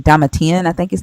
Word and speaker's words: Domitian: Yeah, Domitian. Yeah. Domitian, is that how you say his name? Yeah.